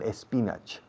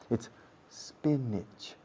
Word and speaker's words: spinach: The pronunciation is not espinach. It's spinach.